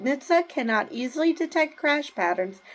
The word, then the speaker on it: NHTSA: firefighters um you know I'm pretty sure you pronounce it Nitsa so Nitsa said in